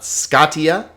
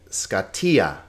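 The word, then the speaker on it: σκοτία: its own syllable scota again pay attention to the accents not scaa not scottia but scatia scatia Darkness okay F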